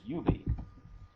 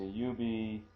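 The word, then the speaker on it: 指: Alrighty, and then the last one in this series is finger, and that one is yubi.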